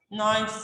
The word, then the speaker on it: knife: You should cut your meat with your knife first. Here, K. Knife starts with K, the K is silent.